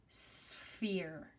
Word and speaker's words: sphere: how we say it this SPH is like saying an S and an F together so it's sphere sphere you can see the